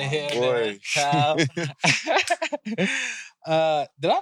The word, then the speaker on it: TAO: TAO. Did I pronounce that right?